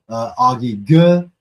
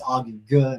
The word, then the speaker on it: Augie Ge: I found out it's Augie Ge, not Augie G.